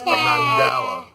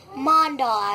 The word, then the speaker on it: mandala: This is Zachary did a Mandela. Mandala. Not Mandela, because that's a South African president. That's not it. That is Mandela. Mandala, actually.